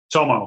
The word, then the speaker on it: Tomo: His first name is, am I pronouncing it right, Tomo, right? Tomo, yeah, it's actually not even my legal name.